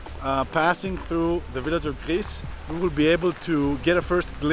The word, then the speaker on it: Gries: We're getting closer to the village of Gries, not Gries, but you can pronounce it very differently.